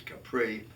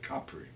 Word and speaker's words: Capri: going to the island of Capri, which we pronounce as Capri, but in the proper pronunciation, which I've absorbed over the years and which Craig has teased me about, I'm used now to calling it Capri.